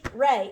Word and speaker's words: re: E is pronounced A. So this is Ray, and Ray is Yeah.